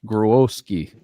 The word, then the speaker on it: Grohowski: I'm going to go with the original saying, pronunciation, Kenny Grohowski, or maybe I even fucked that up.